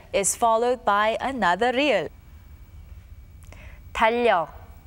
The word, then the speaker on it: 달력: Notice that the letter that comes after the 리을 받침 remains as it is. When the 받침 리을 clashes with the consonant 리을, the latter sound remains as it is and is pronounced as 리을.